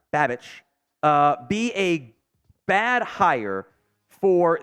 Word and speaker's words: Babich: Would Bobby, I think it's pronounced Babich, be a bad hire for the Giants DC?